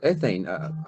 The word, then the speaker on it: ethane: Ethane or ethane?